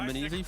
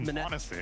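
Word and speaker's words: m0NESY: Kind of looks like Menes, you know, Menezi from the G2 CSGO player. Oh, I think it's pronounced Monacy.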